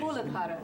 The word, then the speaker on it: Muladhara: This is called Muladhara. Sometimes my pronunciation. Muladhara.